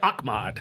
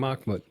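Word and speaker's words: Ahmad: but he went with Akmad. Yeah but he called him Akmod. Was there a reason for that or was he like you could you could pronounce it too both ways.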